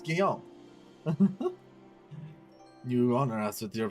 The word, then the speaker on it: Guillaume: It's Guillaume.